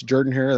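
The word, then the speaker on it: Jordan-Hare: at Jordan hair Stadium it's not Jordan here it's Jordan here that's how they say it down there country people but uh at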